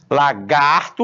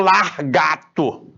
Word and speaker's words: lagarto: do carro, ou mostra 2 possibilidades de pronúncia para uma palavra: lagarto ou largato.